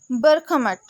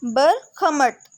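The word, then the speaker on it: Бахмут: मट ठीक हो गया इसको प्रोनाउंस कैसे करना है बर खमत बहुत से लोगों को जो है वो अजीब लग रहा होगा लेकिन जो है जब आप एक से दो दफा इसको प्रोनाउंस करेंगे तो आपको जो है इजी हो जाएगा अच्छा यहां पे जो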